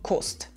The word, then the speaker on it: kost: With "cost" we see that the ending of the verb -et from costs is simply omitted. So we say "kost" and with 15 cents we heard that we pronounce 15 like fuchzwei.